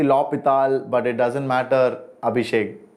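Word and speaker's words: L'Hôpital: darshan is absolutely right a hospital is not the right pronunciation it's actually lopital but it doesn't matter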